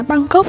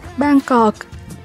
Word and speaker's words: Bangkok: Có phải các bạn hay đọc là Bangkok đúng không? Nhưng mà cách đọc chính xác của nó phải là Bangkok.